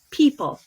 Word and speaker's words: PYYPL: to go live with People. So it's PYYPL, pronounced like people.